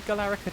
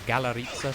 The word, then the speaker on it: Galarica: And I've already forgotten how many Galarica twigs, or Galarica twigs, depending on your choice of pronunciation.